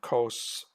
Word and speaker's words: cos: And cos would be how you pronounce this.